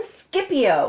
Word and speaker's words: Scipio: this and it's and it's written Scipio with a c s c i I'd say this is